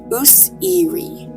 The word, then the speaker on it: Osiris: As well as being reconstructed from hieroglyphs to have been pronounced Useri, meaning throne of the